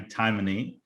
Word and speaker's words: Timoney: i'm so happy and excited to have maggie taimany the ceo of heineken usa here with us